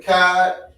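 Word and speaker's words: אחד: So You know the character CHAA, right? Mm-hmm. We don't pronounce it as Chad. That's the English way. Mm-hmm. It's always Ka, CHAA, or Ka, KA. So try to pronounce it one more time. There you go, Akkad. That's how you pronounce it, Akkad.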